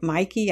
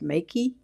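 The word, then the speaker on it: Meike: I say Mikey. I think Peter found out it's actually pronounced Makey, but it looks like Mikey to me.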